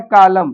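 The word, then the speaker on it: column: यह लिखा है कालम।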